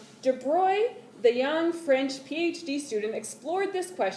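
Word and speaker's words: de Broglie: It's spelled DeBroglie, but it's DeBroglie.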